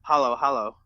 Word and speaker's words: halo-halo: like went on paper it looks like halo-halo that's how it's spelled but over there they call hallo hallo okay like I told